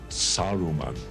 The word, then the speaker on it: Saruman: And it's Gandalf, not Gandalf. It's Gandalf. It is Saruman. It is Theoden, not Theoden.